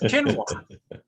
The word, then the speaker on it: quinoa: But my wife pronounces it, says it's quinoa.